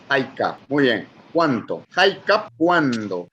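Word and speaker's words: hayk'a: jaik cuánto jaik eh la H se pronuncia muy parecida a la del inglés ya eh la h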